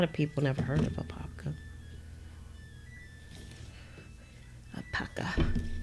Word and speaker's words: Apopka: A lot of people never heard of Apopka. Apopka. The people that live in Apopka, they call it Apopka. I don't know why, because that's not how you pronounce it. It's an Indian name.